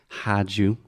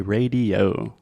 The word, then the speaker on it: radio: So we do not say rádio. We do not say rádio. We do not say radio or rádio. We say radio.